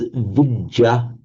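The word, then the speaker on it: vijjā: So what happens here is the vidya of Sanskrit becomes vija in pari and the much the sha of Sanskrit becomes the mucha in parley.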